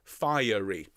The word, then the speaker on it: fiery: Okay, now before we sing it, notice that Mendelssohn's asking for 3 syllables on fiery. Okay, not quite fiery, but close.